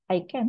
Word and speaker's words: ICANN: Jadi internet itu di manage gitu ya oleh ada namanya IETF Internet Engineering Task Force, kemudian ada bacanya apa? ICANN.